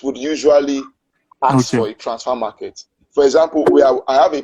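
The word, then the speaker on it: Transfermarkt: It's spelled transfer market, but it's transfer market. You just remove the E.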